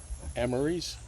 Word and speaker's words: Emery's: Emery's. Exactly. Rhymes with memories.